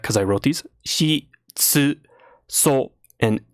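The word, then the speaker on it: ツ: shi, tsu, so, and n.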